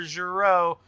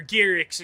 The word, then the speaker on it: Giroux: Running up the field in the 75 is the Philly Flyer, Trevor Giroux, or Gearix, excuse me, I didn't mean to pronounce that wrong.